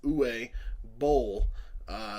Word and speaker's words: Uwe Boll: directed by you or you said the correct pronunciation Amos who a bowl legendary shitty director of quite a few shitty